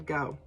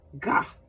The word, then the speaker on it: Gogh: favorite artists, Vincent van Gogh. He was born in the Netherlands, and if you were to call him Mr. Van Gogh, he wouldn't answer, because in the Netherlands, they say his name, Gah.